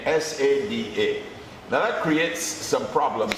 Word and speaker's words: Sada: But of course it's Sada, that's the pronunciation, right?